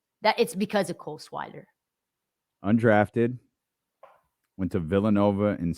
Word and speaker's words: Swider: Cole Swider, SWIDER. Oh, I got it. I mispronounced on it.